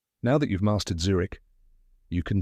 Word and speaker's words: Zurich: now the spelling tip it's spelled z r i c h but remember no CH sound at the end now that you've mastered Zurich you can say it